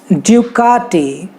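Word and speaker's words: Ducati: फिर और भी कुछ इटालियन ब्रांड्स है, जैसे ड्यूकाटी, का को थोड़ा सा स्ट्रेच करना है, ड्यूकाटी।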